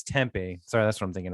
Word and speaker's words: tempeh: And it's spelled like a little, oh no, it's tempeh.